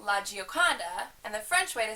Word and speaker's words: La Gioconda: lady Lisa um the Italian way to say it is La Gioconda and the French way